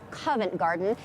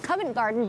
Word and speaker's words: Covent Garden: than 400 years now the name Covent Garden is actually a mispronunciation of convent garden and that started back in the 1500s when the monks of Westminster Abbey used this area as their vegetable garden fast-forward a couple of